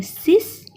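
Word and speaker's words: six: 6 को कहते हैं सिस. स्पेलिंग इंग्लिश जैसा ही है बट कहते हैं सिस.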